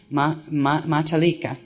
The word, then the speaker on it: matalika: The metal ones are called there's a way to pronounce this, matalika. It's not meta, it's mata, matalika.